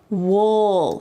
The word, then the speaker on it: we'll: and then we'll see notice the pronunciation I didn't say we see with a clear we see instead I used this reduced pronunciation and said wool it almost sounds like a short u w see we'll see